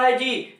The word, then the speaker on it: हेज: यहाँ है हेज, HEDGE, यहाँ भी डी के जस्ट बाद जी आ रहा है, तो यहाँ भी डी साइलेंट है।